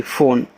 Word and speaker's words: PHONE: अब फ़ोन एक English word है तो इसमें जो लास्ट में ई होता है उसका उच्चारण हम नहीं करते।